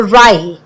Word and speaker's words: wry: So it rhymes with cry or dry. So wry.